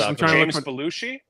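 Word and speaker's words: Belushi: was gridlock no the one with um the beluchi beluchi is that how you say it Tupac is in it um I don't know James balushi balushi yeah he he I I think he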